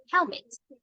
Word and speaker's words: helmet: dude pay attention we we have two syllables in the word element and you have to put the stress on the first syllable and the first syllable